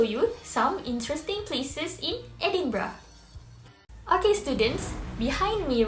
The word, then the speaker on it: Edinburgh: good try everyone but the correct way to pronounce these words is edinburgh edinburgh okay now can you try again yay that's